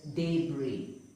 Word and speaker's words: debris: Debris. It is not debris. The S is silent. It is debris.